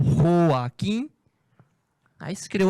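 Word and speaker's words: Joaquín: Se pronuncia em espanhol Joaquim, aí se criou o apelido Quino.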